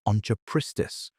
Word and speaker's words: Onchopristis: There were also giant lungfish, primitive sharks, and a saw-snouted predator called Onchopristis, pronounced On-cho-pris-tis, that based on the largest specimens may have reached over 20 ft.